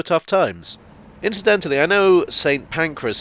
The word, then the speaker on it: St Pancras: times incidentally i know saint pancras is often mispronounced as saint pancreas so while i'm here